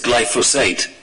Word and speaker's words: glyphosate: I would just say in the pronunciation, I think we've got to get this right. It's glyphosate.